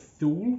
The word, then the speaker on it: Thule: they do do the i'm gonna say tool a some people call it thule because it's about t-h-u-l-e uh but apparently the correct pronunciation is too late i think it's a scandinavian brand not sure don't quote me on it but i'm going to call it too late but you know i